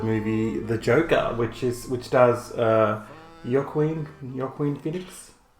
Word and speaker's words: Joaquin: Today we have a very special review for the movie The Joker, which stars Joaquin Phoenix. Joaquin Phoenix.